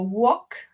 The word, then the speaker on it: walk: Entonces, tenemos el verbo walk. La L no se pronuncia.